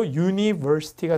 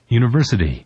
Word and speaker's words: university: 그러니까 지금 TION, SION, ITY 그 다음에 뭐 이것처럼 IC 이런 걸로 끝나는 말들은 강세를 바로 앞에 줍니다.